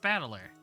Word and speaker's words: Battler: my given name yeah the last two characters is made up of the characters for fight and person and it's pronounced battler put it all together